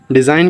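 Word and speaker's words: design: इधर जी को हम आ जाएंगे। कट कर देंगे। डिजाइन का हो जाएगा रूपरेखा रचना।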